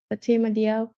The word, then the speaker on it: Fatima: Peninsula Place versus Fatima. Is it Yak? Oh, she's the one that traveled all over. She still got that. Yeah. Hello, young lady. What's your name? Fatima.